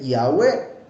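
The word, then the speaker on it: Yahweh: él mismo era judío Pero deja una pista para que se entienda Cómo se pronuncia Y dice yahwe Bueno lo que dice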